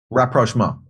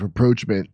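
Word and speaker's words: rapprochement: we're seeing uh so how do you pronounce this word rapprochma I did not know that I thought it was reproachment I thought it was reproachment but I guess you could say approachment too yeah but Aaron I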